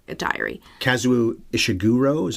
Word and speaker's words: Ishiguro: diary even though it's not a diary kazuu ishiguro is how you say that ishiguro I've heard it pronounced honestly dozens of times while researching this